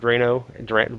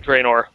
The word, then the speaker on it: Draenor: Even though, did you get an invite to the Warlords of Drano? How do you say it anyway? Seriously. Draenor. Yeah. I really don't know. I really don't know the difference. You were close.